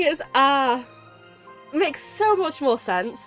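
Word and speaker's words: あ: not this is a it's the equivalent of the vowel a in English you pronounce it as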